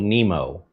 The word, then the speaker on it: Nimo: by a company called Nemo. Kind of like the fish, Finding Nemo, except it's spelled with an I, N I M O.